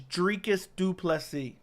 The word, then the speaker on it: Dricus du Plessis: message on Instagram said here's how you say it I finally know how you say it it is drinkist duplessy it's like dree drekus duplessy that's how you say